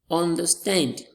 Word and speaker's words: understand: Understand. Understand. We have our stress on the stand as the second word.